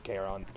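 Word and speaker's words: Charon: that one oh wait chathon is a Marvel demon my bad it is keron sorry I'm confusing my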